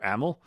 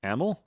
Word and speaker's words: Amyl: they corrected my pronunciation apparently it's either AML like a m i l EML right you see I